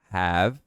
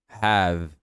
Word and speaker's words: have: É som de v. Have. Have. Não have, não have, nada disso.